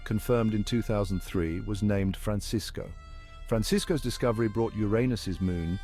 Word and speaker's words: Francisco: The pronunciation follows the traditional Spanish Francisco.